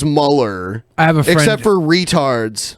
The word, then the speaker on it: Mueller: and closer to presidential I know his name is spelled like Mueller but everyone says Muller I have except for